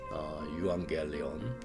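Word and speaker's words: εὐαγγέλιον: 영어에는 그리스어 유앙겔리온 이게 원래 발음으로 하면은 에반겔리온인데 이 근접한 그 영어 단어가 있습니다.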